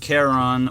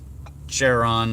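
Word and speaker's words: Charon: the chance to pronounce it's pronounced Karen or Karen not Sharon or Sharon or anything if you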